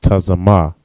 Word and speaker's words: tazama: All right, and thirst in the Hebrew is tazama. All right, this word is just two letters, taza and ma.